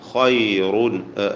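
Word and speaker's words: خَيْرٌ: ഖൈറുൻ, ആഖിറ റാഇന് തഫ്ഖീമുണ്ട്. ഖൈറുൻ, ഖാഇനും റാഇനും ഒക്കെ തഫ്ഖീം നൽകണം.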